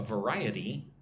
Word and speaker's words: variety: V-ri-e-d. Again, 4 syllables. Again, put the emphasis on the second syllable. Ri. Variety.